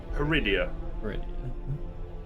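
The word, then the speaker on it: Peridea: How do you pronounce the planet's name? Peridia.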